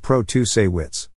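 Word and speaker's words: Protasiewicz: dollars behind judge protesty Wicks pronounced Pro to say wits but they have also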